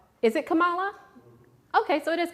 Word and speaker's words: Kamala: new vice president come on uh i'm gonna mispronounce her name it's is it kamala okay so it is kamala all right well then i was gonna be